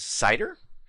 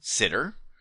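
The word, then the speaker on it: CIDR: And depending on who you ask that acronym is referred to as cider or sometimes sitter or possibly even cedar. I've seen and heard it pronounced all three ways.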